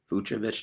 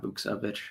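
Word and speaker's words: Vukčević: Or Yeah, like it's just Veovich, not Bukovich. I got to get that my Eastern European pronunciations right there.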